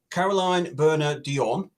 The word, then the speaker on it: Caroline Bernier-Dionne: To celebrate episode 135 of the Puppet Podcast, Caroline Bernier-Dionne, that's how you pronounce it, and Lee Thompson have come together to offer this competition to our amazing viewers.